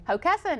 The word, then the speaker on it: Hockessin: She's from Hockessin? Hockessin. Did I say you it said right? it right. You said it right.